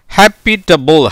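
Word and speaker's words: habitable: வார்த்தையின் கடைசியில் ஈ வந்தால் அதுக்கு வந்து உச்சரிப்பு கிடையாதுங்க. இப்போ ஹெச்ஏ உயிர்மேழுத்து, பிஏ உயிர்மேழுத்து, டிஏ உயிர்மேழுத்து, பிஎல்இ ஈக்கு உச்சரிப்பு இல்லாதனால பியும் மெய்யெழுத்து, எல்லும் மெய்யெழுத்து, அதனால தான் இப் எல்னு போட்டிருக்கேன். ஹாப்பி ஹாப்பிட்டபுள், ஹாப்பிட்டபுள், ஹாப்பிட்டபுள்னா என்ன சார்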